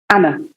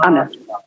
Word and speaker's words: Anna: How do you pronounce that in German? Anna.